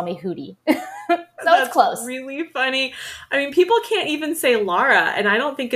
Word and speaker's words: Houry: technically you should just I'm trying to get people to say it like it should be said with the rolled R so it's hoodie but it's really hard